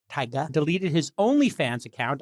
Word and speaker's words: Tyga: rapper tyga spelled t-y-g-a kind of pronounced like tiger but taiga deleted his only fans